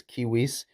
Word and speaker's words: civis: But Hercules, civis suos. Notice how I pronounce this as civis. That's because in the third declension, a long is can be an accusative plural.